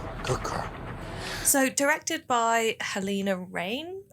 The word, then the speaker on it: Halina Reijn: So, directed by Helena Rain. I think that's how you pronounce it. That's my anglicised pronunciation of it Yeah.